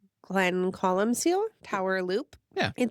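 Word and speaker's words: Glencolumcille: We did the Oh boy, I don't know how to pronounce it. Glen Colum Seal. Glen Colum Seal.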